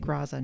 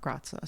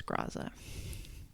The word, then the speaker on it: Graza: And yes, they do pronounce it Graza, not Grazza. So I'm wrong about that. It's Graza.